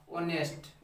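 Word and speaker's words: honest: और ईमानदार का इंग्लिश क्या होता है, ओनेस्ट, और ओनेस्ट का जो प्रोनाउंसिएशन होता है वोवेल साउंड आता है ना, इस तरह से आता है ओनेस्ट। ओनेस्ट, ओनेस्ट का प्रोनाउंसिएशन ओ वोवेल साउंड आता है, इसलिए इसके पहले क्या आएगा, एन आएगा।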